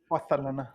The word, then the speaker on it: Barcelona: Barcelona. That's how it's pronounced.